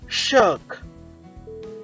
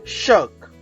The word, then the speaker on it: shirk: of the letter o it should not be pronounced as oh it is okay next number two shirk shirk okay in shirk sound remains silent okay rare